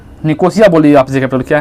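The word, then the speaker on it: Nicosia: क्या है लिफ कोशिया ठीक है जिसको कि निकोसिया मतलब कुछ इस सेंस मतलब कि नाम है अलग-अलग तरीके से उसको नाम प्रोनाउंस किया जाता है ठीक है वो क्या है साइप्रस ठीक है निकोसिया बोलिए आप क्या है निकोसिया ठीक है तो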